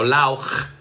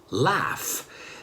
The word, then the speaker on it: laugh: No lauch, laugh.